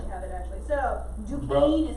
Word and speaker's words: Duquesne: So, Duquesne is how you say it.